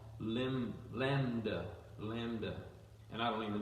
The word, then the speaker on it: lambda: And that H is actually a word that means, let's see if I can say lambda. Lambda is the way it looks like it's spelled.